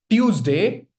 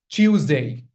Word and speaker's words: Tuesday: It's not Tuesday. It's ch Tuesday. There's this ch sound before uh you know at the at the beginning.